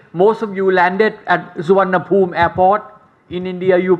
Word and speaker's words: Suvarnabhumi: Our language, Thai language, most of you landed at Suvarnabhumi airport. In India, you pronounce as Suvarnabhumi. In Thailand, we pronounce as Suvarnabhumi.